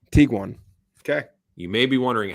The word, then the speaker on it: Tiguan: This combination of German words is pronounced Tiguan. Tiguan.